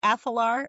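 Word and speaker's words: Athalar: So, I think Hunt from there from is it Athlar? Is that how we pronounce his last name? Oh, I pronounced it correctly.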